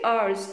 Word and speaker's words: hour: are our over here the H is silent okay so he is